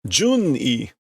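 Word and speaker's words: 准尉: Jun-I.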